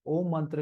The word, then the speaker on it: ओम: तो सो जब आप ओम का उच्चारण करते हैं उसे प्रोल करना है डोंट साउंड इट शॉर्ट ओ और जब आप ओम